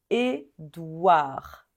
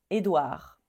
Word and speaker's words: Édouard: va dire Arnaud Arnaud pareil ici on ne prononce pas le D à la fin donc Édouard Édouard m Chel Michel celui-ci